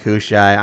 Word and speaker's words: Hushai: Okay, leave me Hushai and alone. Abishai, I see where the confusion is. They both end in shy.